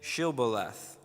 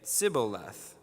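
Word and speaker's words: shibboleth: they said to him then say she'll beleth and he would say cibolath for he could not pronounce it right then they seized him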